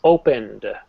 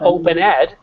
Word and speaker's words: opened: we say it's voiced so it's opened opened open yeah not opened not open ID but opened open open